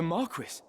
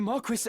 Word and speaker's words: Marquis: The Marquis? The Marquis Elmdor de Limbri was here. Is that how you pronounce it? Marquis?